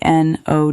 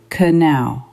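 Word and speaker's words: know: I read no k N O W. I thought can in the podcast the man said no no n o no no no no k n o w the k is silent.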